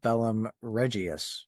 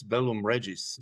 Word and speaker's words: Bellum Regiis: their your latest album Bellum Reius. Is that how you say it? It's Bellum Reggies. So you you are pretty close.